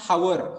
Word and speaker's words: hour: Okay, you'll come to know it begins with h, but h is silent. You people will not pronounce. Nobody will pronounce hour.